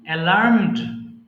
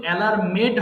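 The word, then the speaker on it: alarmed: অ্যালার্ম সংকেত দেওয়া অ্যালার্ম অ্যালার্মড অ্যালার্মড এটা কিন্তু অ্যালার্ম মেড হবে না অনেকে ভুল করে অ্যালার্মেট বলে ফেলে এটা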